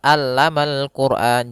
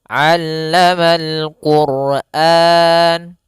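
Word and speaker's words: علم القرآن: Jangan sampai dibaca alamal quran, jangan pakai alif, jangan pakai hamzah. Tapi di sini huruf ain. A aa allama allamal quran.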